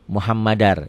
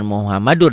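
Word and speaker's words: مُحَمَّدًا: o muhammadar rasulullah ya muhammadar ya ini muhammadar bukan Muhammadur di sini muhammadar diomkan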